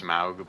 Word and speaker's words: Smaug: Smaug is pronounced Smaug, but Smog just sounds better.